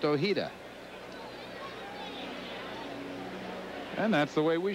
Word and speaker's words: Ojeda: from any spanish-speaking country he is from california and he wants it pronounced ohida and that's the way